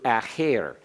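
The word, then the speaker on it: אַחֵר: Now please keep this straight from acher as opposed to acher. Acher is a preposition. Acher is accented on the first syllable, and it has a pathak under the haith.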